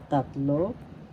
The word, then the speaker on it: tatlo: reiteration or paguulit is tatlo Tatlo first syllable tat second syllable law tatlo the second syllable has so you pronounce because tatlo tatlo and that means